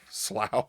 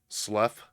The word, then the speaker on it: Slough: sergeant wen joel slaw slow i i don't know how to do that i probably butchered that slow it's left slough it's l u f f that's how that okay particular wording is pronounced sergeant when joel slough